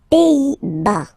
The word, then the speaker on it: Pays-Bas: Les Pays-Bas. Final S here, not pronounced. Same thing here. Pays, pays, and then bas. Les Pays-Bas.